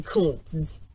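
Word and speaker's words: Koontz: Oh no, sorry, not Charles. Charlie Kuntz. That's how you say it.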